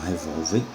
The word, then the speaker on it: revólver: No caso das palavras paroxítonas, como por exemplo, revólver, você tem a sílaba tônica vol, que é a penúltima, e termina em R.